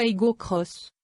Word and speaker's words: Aygo X: Attention, c'est écrit Aygo X sur le haillon comme sur les montants de custode, mais il faut prononcer le X à l'anglaise, Cross. Une appellation qui l'inscrit dans